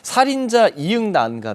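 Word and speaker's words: 살인자ㅇ난감: 발음에 대해서 말씀하셨는데이 제작지 이제 다 뭐 발음 가능하다 그러니까이 살인자 장난감이라고 발음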